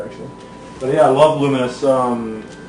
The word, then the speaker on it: Lumines: came out, it's pronounced Luminous, but spelled. I had a feeling I was going to make one of these lists tonight. But it's spelled Lumines for some reason. But it's pronounced Luminous.